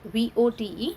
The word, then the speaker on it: vote: Okay, so here you can see I am not going to sound E, E will be silent, and O है उसको हम name देंगे and that will be O।